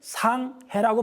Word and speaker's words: 상해: 우리 샹하이 그러죠. 샹하이. 근데 샹하이는 어떻게 쓰죠? 우리가 한자로 쓸 때 상해라고 썼습니다. 윗상자에다 바다의 자를 씁니다. 정확하게 중국 사전에는 상해라고 발음하고 되어 있습니다. 우리 발음이 맞습니다.